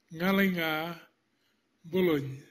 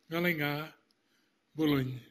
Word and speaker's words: Ngalinga Bulun: To talk about a kidney, my kidney is pronounced in Aboriginal language Ngalinga Bulun. That's what is written up there on the board. Ngalinga Bulun.